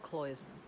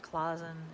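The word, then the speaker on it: cloisonné: actually cloison because and it's called cloisonne it's not clausen it's not i've heard other pronunciations it's cloisonne sorry oh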